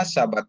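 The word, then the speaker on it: שבת: Di mana sabat itu dari shin dikasih pata dan bet dikasih kamats ya. Jadi bacanya jadi sabat.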